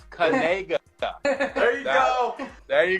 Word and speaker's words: Kanaga: So this is how you pronounce it. It's Kanega. You say it Kanega. Like that? What do you mean by that? See, that's the key. It's Canega.